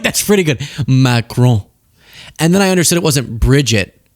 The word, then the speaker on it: Macron: Because I called her initially Bridget McCran, and I felt like that didn't sound right. But then I nailed Macron. I feel like that's pretty good. Macron.